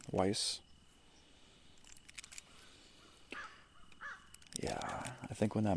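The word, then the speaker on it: Weisz: crush on Rachel Weiss like that's how you say her name Weiss yeah I think when that movie came out I was like 11 or 12.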